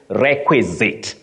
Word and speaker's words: requisite: opposite that is why I asked you to pronounce that word so this one you say requisite requisite just like prerequisite not prerequisite okay all